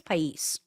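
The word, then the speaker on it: El País: El El Pas Pis pais I think it's pais anyway el p pais I'm going with that they interviewed some Hispanic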